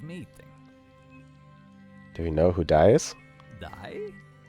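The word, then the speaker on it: Dai: Do you know who dies? Die? Not like the verb die. It's spelled D-A-I.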